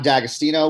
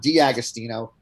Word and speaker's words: D'Agostino: 4 hours of that, we mispronounced his last name the entire 4 hours. Oh, my God. It's John D'Agostino. We said John D'Agostino, and we've had to apologize to him.